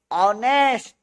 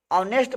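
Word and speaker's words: honest: मतलब एच हो उसका उच्चारण कीजिएगा तो ओ आ जाए तो वहां क्या लगाइएगा, एन लगाइएगा। अब एन का प्रयोग उतना ही होता है।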